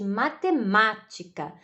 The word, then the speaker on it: matemática: Por exemplo, nós dizemos matemática, né? Hoje vou ter aula de matemática. Então, o ma, né? Matemática. O segundo ma, nós pronunciamos com mais força do que as outras sílabas, né?